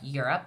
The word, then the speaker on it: Europe: be rope your you it looks like the long o sound but it's an oddball because we don't say it with a long Oh sound we say it with the short u